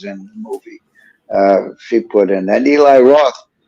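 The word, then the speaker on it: Boonton: t-o-n it's spelled boom boom done but it's pronounced putin anyway that's it that was the kind of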